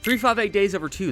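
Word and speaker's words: 358/2 Days: associated with them being broken during this game 3 58 days over two that's how you say it referring to how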